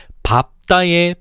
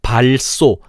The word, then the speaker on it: 밟다: 그 사례로 밥 계열과 넙 계열이 있는데 먼저 밥 계열을 보면 밥다의 밥이 초성 자음을 만날 때 밟다, 발소, 밟지, 밟는, 밟습니다가 아니라 밥다, 밥소, 밥지, 밟는, 밟습니다라고 발음해야 돼.